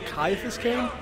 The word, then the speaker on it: Ciaphas Cain: Ciaphas Cain, hero. Oh, is it Ciaphas Cain? Oh, I've been saying his name wrong this entire time.